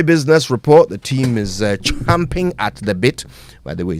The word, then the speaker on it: champing at the bit: Report the team is champing at the bit by the way say it right it's champing at the bit not chomping at the bit champing at the bit